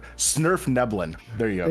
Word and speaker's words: svirfneblin: Surf Neblin. Snurf Neblin.